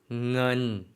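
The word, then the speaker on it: เงิน: 넌 한국분들이 조금 어려워하시는 발음이에요. 초성에 나온 데다가 의와 어 중간 모음까지 쓰였거든요.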